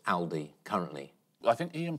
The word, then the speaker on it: Aldi: According to Germans, Britons have been saying the budget German supermarket name wrong, and the Al in Aldi should be short and sharp, like Al Murray. It's frequently mispronounced Aldi by British shoppers.